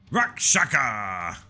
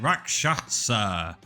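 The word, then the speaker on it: Rakshasa: Rack shaka. Nope, that's not how you say it. Rakatasa.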